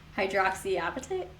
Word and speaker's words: hydroxyapatite: Like, I know that there is one called like hydroxyapatite.